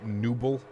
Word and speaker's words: Nubble: The first time it's pronounced Nubble. Okay. After the Nubble Lighthouse.